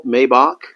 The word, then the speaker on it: Maibach: So with us today is Michael Maibach. Did I pronounce that correctly?